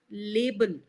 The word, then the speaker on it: label: and the pronunciation of label sounded more like level. Okay, so make sure that you pronounce the syllable the a sound clearly.